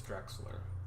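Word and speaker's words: Drechsler: see that nebula and for anyone else as confused about pronouncing Marcel's last name as me now you know it's Drexler uh yes this image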